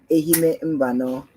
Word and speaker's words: Ehime Mbano: Uh, how will I be able to pronounce it? Ehime Mbano.